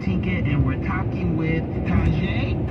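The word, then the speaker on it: Tajai: I'm your host, Tinka, and we're talking with Tajay, correct? That's how you pronounce it?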